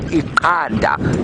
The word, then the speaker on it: iqanda: in Zulu, which is Iqanda. And you can hear the subtle difference between the two clicks. The one is an X, the one is a Q, and egg is spelt with a Q, Iqanda.